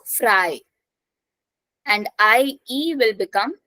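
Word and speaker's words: frei: Then EI will become I, so fry.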